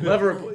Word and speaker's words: Leverett Ball: Leverett Ball.